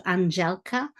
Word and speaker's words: Andelka: The D is pronounced like a J, so Andelka. I am an academic affiliate